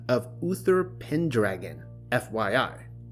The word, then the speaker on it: Pendragon: He went by the name of Uther Pendragon, FYI. It is pronounced Pen, but then you have to follow the syllables through to dragon.